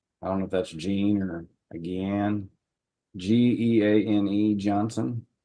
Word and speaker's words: Jean: your first name sir Jean Johnson it is Jean okay very all right it looks like a